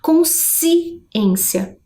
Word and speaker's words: consciência: Diferente, né, do que acontece quando eu faço a pronúncia da palavra consciência, né? Eu não consigo perceber separadamente o som da letra S e da letra C.